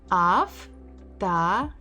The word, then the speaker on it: Автомат: Автомат. Автомат, автомат, автомат. So we stress a, mat. So this o has to be read as a, автомат, автомат. Вилка, вилка, вилка, вилка.